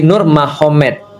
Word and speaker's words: Nurmagomedov: Jadi tulisnya Magomed, tapi bacanya Mahomet, kan gitu kan ya. Jadi Nur Magomedov itu jadi Nur Mahomet.